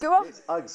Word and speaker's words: UGG: UGS or the the Australians say Uggs. Okay. Because it's and the British also because it's like ugly. It's Ugg.